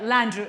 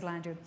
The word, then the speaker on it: Landrieu: conversation uh with uh mr mitch and they pronounce this this right landrieu this is slander that's close enough just don't